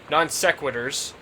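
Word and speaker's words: non sequiturs: tangents and non-sequentors from the non-sequiturs that's how you pronounce that from the usable copy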